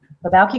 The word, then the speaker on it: Balki: sorts of stuff okay Balki group com could you spell that for the place it's th e be as a boy au ke this sounds like there's an L in it but there's not the Balki group com